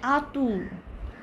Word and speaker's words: Arthur: Nikola Nikola Nikola এইটা আর্থারটা হবে আতু আতু ঠিক আছে র‍্যাবো র‍্যাবো এরকম হবে